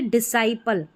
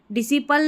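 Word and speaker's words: disciple: Silent है। और देखिए डिसाइपल क्या है यहां पर? डिसाइपल जो शिष्य रहते हैं इसको डिसी डिसिपल नहीं पढ़ना है।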